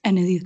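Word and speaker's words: Ennedith: and spell your name yes my name is ened you spell it as e n n e d i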